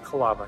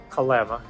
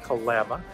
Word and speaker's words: Kalama: of this video where I keep saying Kalama. No, Kalama. Was told that by a local. We are definitely not local from Kalama. But definitely you want to make sure you say it right, Kalama.